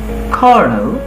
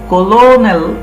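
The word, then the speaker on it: Colonel: তারপর পড়ো কর্নেল। দেখো এটা কিন্তু কলোনেল নয়, এটা কর্নেল।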